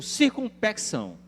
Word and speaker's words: circunspecção: que ser feito com circunspecção. Que palavra é essa? Circunspecto, né? Você pode fazer a pronúncia sem o C, antes do cedilha.